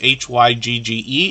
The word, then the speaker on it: hygge: how we pronounce this h-y-g-g-e is pronounced hygge and it means cozy